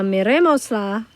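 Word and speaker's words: mirémosla: You need the accent there on that E because that used to be the next to last syllable, and now that it's not, we've got to add that accent so that we know where the emphasis goes.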